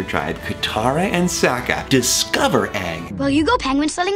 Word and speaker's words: Aang: this super powerful multi-element controlling kid on it's Aang um I'm saying hey I'm hearing on how